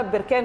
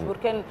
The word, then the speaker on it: بركان: تعرف مدينه بركان هو اسمها بركان فعلا زي ما احنا بننطقها مش بركان، هي تقع فين؟